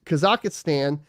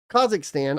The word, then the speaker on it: Kazakhstan: where China United States kazakistan Kazakhstan I'll say it right Russia Malaysia Canada Germany